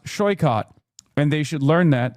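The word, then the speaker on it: Saikat: Tell them that my name is pronounced Shoycott and they should learn that they can ask me.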